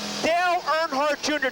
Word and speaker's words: Dale Earnhardt Jr.: Dale Earnhardt Jr. Did I pronounce that right?